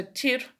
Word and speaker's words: Tyr: Okay, so Tir, or Tir, some people pronounce it, is a god known for his ability to forge peace and settle things between peoples.